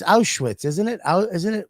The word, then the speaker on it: Auschwitz: and there were wooden bunks that looked like auschwitz uh austrians like the overalls no auschwitz i said it right it's auschwitz isn't it isn't it how do you say